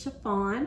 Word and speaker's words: Sha-Phawn: This is Sha-Phawn, pronounced like the material.